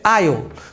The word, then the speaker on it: aisle: Então, a pronúncia é aisle, totalmente diferente do que se parece que seria, se a gente brasileiro ia ter a tendência de falar muito diferente do que é na verdade.